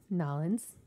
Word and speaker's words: New Orleans: New Orleans. Or as some people pronounce it, Nollins.